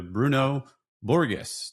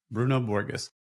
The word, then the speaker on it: Bruno Borges: Today, we're talking to Bruno Borges. Did I say that right? Yeah, you did say it right. It's all good. Bruno Borges, principal PM manager at Microsoft and 24 years